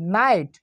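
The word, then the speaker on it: night: এফ আই জিএসটি ফাইট, এন আই জিএসটি নাইট, অর্থাৎ এখানে জিএস এর উচ্চারণ কিন্তু silent, F আই টি এন আই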